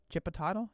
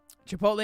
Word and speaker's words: chipotle: don't appreciate it okay i pronounce uh like aristotle so chippa toddle chip a toddle is that how you say it a bag of ships um chipotle is a spanish word ch makes a soft h sound um we